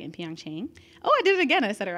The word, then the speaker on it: Pyeongchang: And so this year it was a record 15 LGBTQ athletes at the 2018 Winter Olympics, right, in Pyeongchang.